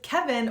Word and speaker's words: Kevin: if your name was Kevin versus another name like Arthur. But it wasn't always this way, because Kevin, or Kevin as it's pronounced in French, was actually the single